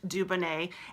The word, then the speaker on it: Dubonnet: for 2d ubo in and et that it's pronounced Dubonnet and it's after the Dubonnet cocktail that was